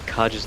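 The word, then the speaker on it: Kage: AD runes, we see that he's built a Kaj's Lucky Pick, or Cage's Lucky Pick. I'm never quite Cages. sure how to pronounce that.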